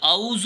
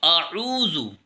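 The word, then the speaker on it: أعوذ: الرحمن الرحیم۔ قل اعوذ، اس میں ہم غلطی یہ کرتے ہیں کہ قل اعوذ بول دیتے ہیں، اعوذ نہیں بلکہ اعوذ، آ اور عو ان کی آواز الگ الگ آنی چاہیے۔ صحیح تلفظ اس طریقے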